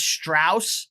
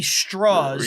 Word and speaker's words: Strauss: is why he's like even though my name is Strauss yeah I want it to be straws yeah the American pronunciation like that makes him